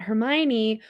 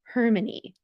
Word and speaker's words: Hermione: for the first time I thought Hermione was pronounced hermony hey I read audio